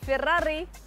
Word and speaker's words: Ferrari: दुनिया भर में फेरारी बोलते हैं, जैसे आप बोलते हैं फेरारी. बट एक बार प्लीज जो इसकी इटालियन प्रोनाउंसिएशन है वो बोलिए ना, बहुत अच्छा लगता है. Just say फेरारी. That's how it's actually pronounced. The actual name is this, फेरारी.